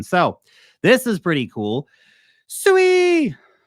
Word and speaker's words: Sui: Sway. I think it's supposed to be pronounced Sway.